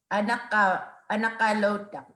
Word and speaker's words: anakalota: And he clarified that good night is anakalota. And I was saying it wrong.